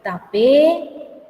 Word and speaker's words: tapé: Se escribe tapé, camino, tatá, fuego, ¿sí? Y se lee tapé, tatá. Entonces se carga la voz y no se acentúa.